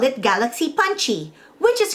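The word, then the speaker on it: パンチ: use the sound qi the word punch itself is an english loan word in the japanese language but written in japanese characters becomes punchy so the way it's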